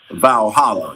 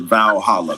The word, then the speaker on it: Valhalla: Cairo, they gotta so their heaven is considered Valhalla.